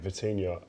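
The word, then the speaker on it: Vitinha: Um Neves and Vitinia and every single one of them spoke about working hard, a work ethic but enjoying it.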